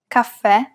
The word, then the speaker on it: caffè: If the vowel at the end is an E and it has the grave accent on top, it's indicating that we should pronounce it as an open E. And of course, we must stress the syllable. Te, caffè, e.